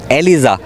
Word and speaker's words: Aliza: अब जो गुरु ने रखा, बाकी एलिज़ा जो मेरी स्पेलिंग आती है ALIZA, एलिज़ा ये है।